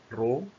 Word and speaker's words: rho: Kemudian ini ada Rho, ini Rho, bacanya Rho.